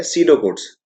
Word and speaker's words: pseudocode: बात करें वो है तीसरे स्टेप की अगर हम बात करें जो कि है सीडो कोड्स। मैं इसकी स्पेलिंग भी आपको अनाउंस करके बताता हूं, जो कि है PSEUDOCODE। यहाँ पर P साइलेंट है।